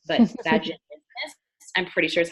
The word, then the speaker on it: vaginismus: It can cause, but I'm going to butcher this pronunciation, but vaginismus, I'm pretty sure is how it's pronounced, but basically like pain during sex and all these things.